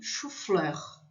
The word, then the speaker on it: chou-fleur: E chou-fleur, que é couve-flor. Chou, ou o X, também vai ter som de U. Chou, fleur.